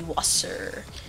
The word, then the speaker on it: Wasser: and ah water oh you know how you say water in german it's actually wasper sounds like saucer but it's actually wasser means water except they